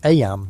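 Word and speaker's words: Eyam: It's now the summer of 1665, and we find ourselves in Aam, a small village nestled in the picturesque hills of Darbisha, England. Aam, you know, is pronounced just like em.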